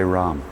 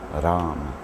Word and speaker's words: Ram: wrong can you say Ram you know you know you can I mean even Indians they roll their RS Ram right we don't so we're saying it wrong anyway but Ram knows you